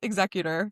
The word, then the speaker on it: executor: anyway, yes, it is pronounced executor for wills.